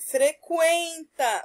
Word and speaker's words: frequenta: letra U né com por exemplo frequenta ouvimos a letra U hora ela não é